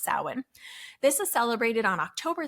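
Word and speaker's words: Samhain: as and pronounced as Sam Hayne It's s m ha a I but it's actually pronounced sawin this is celebrated on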